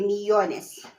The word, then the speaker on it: millones: And then, since it's a rule that, when there's 3 syllables, the stress is always at the middle, you take off your stress and you say millones.